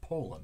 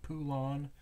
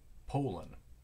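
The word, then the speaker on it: Poulan: it right because I've actually seen the proper pronunciations Poland not poulon not Poulin Poland in one of their ads in the chainsaw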